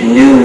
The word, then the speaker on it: GNU: there is a nuisance which is written G new sense but that's a joke also you see